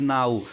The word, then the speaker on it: know: उसके बाद नाउ, अब बच्चा अगर नाउ को पढ़ना होगा कैसे